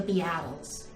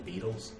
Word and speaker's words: Beatles: their sergeant Pepper's record the B attles but you mean the Beatles it's pronounced yes not